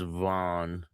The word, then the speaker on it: Vaughan: They spell it all crazy weird. I don't know why, but but the neighborhood is Vaughan. It's like plain and simple. Vaughan.